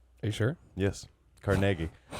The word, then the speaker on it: Carnegie: tape historical uh because in scotland that's how his name is pronounced no but jason always